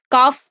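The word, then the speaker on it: calf: बछड़ा मतलब काल्फ, तो जो काफ, इसका जो प्रोनाउंसिएशन है वो काफ होगा। एल इसमें साइलेंट होता है।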